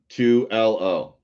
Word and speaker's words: Tuello: I kind of want to see her, I guess, link up with Tuello. Did I say it right this time? 2LO.